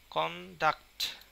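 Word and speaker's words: conduct: কন্ডাক্ট, কন্ডাক্ট, এখানে ডাক্টের উপরে বেশি উচ্চারণ হবে।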